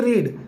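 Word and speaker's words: read: यही लिखी जाती है लेकिन इसको उच्चारण डिफरेंट कर दिया जाता है रीड का उच्चारण नहीं करेंगे यहां पर रेड उच्चारण करेंगे इसको क्या पढ़ेंगे रेड और उसके बाद ऑब्जेक्ट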